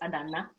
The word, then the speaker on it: Adanna: it's two ends in a ghana it is pronounced because it's adana and it is my mom on a regular